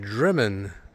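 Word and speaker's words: Drymen: It's spelled Dryman, but it's pronounced Driman.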